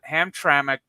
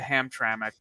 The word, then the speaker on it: Hamtramck: So, somebody in the comments last week said Hamtramck is pronounced how it's spelled. That is not it is not pronounced how it's spelled because you're adding a vowel where there isn't one.